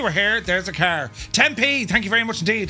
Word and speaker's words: Tempe: Tempe. Thank you very much indeed. That's how we pronounce it.